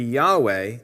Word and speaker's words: Yahweh: to render the tetragramaton the original pronunciation of yhvh or yhwh taken to be Yahweh is a tentative reconstruction based on several lines of evidence a misunderstanding of how